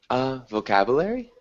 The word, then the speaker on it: vocabulary: Vocabulary? Vocabulary, I guess. Yeah, it's a difficult word to pronounce. I always teach my students vocabulary. Vocabulary. So it's almost more of like a longer U sound, vocabulary.